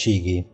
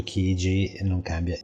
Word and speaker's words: Chigee: new Chigee or rather From what they told me the pronunciation is cighi but see let's say on cighi or Chigee the page does not